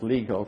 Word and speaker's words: LIGO: Here is a drawing of the kinds of gravitational wave detectors that we use in LIGO. Though in Latin countries it's pronounced LIGO for obvious reasons.